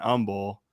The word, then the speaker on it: Humble: i find H isent the H is silent okay so if somebody is not bragging they're being humble yeah yeah really okay I I flip I'm like oh yeah that's over there in Umble you got to be